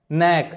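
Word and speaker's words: knack: है अगला वर्ड है नेक नेक मतलब होता है स्पेशल स्किल के साइलेंट है यहां पर जैसे हमारे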